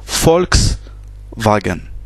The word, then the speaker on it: Volkswagen: Le V en allemand se prononce F. Donc ici, ça se prononce V. C'est un V. Par exemple, la marque de voiture Volkswagen, ça se prononce Volkswagen.